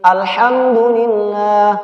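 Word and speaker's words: الحمد لله: dalam surah al-fatihah alhamdulillahirobbilalamin Alhamdulillah Alhamdulillah tidak boleh ditahan jatuh harga Academy tidak boleh nih alham dulilah kedengarannya nih bagus tapi salah dalam tata cara membacanya Alhamdulillah Ini salah jadi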